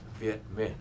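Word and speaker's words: Việt Minh: the French VI man uh how do you spell that v e t m m i n h vietman and what does that mean well actually it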